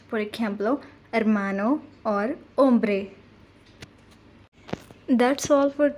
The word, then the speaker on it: hermano: for example and third h is always silent in spanish for example hermano or ombre that's all